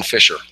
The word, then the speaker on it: Fisher: Maxwell Sanchez and late is did I pronounce that correctly oh you were close fiser oh fiser I'm sorry and they are from Vera block